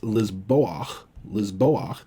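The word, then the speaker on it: לִזְבֹּחַ: normally have a holim, they like to sneak this patach in there because especially the chet and the ayin, they have a strong preference for A-class vowels. So this would be pronounced lizboach, and from zavach, which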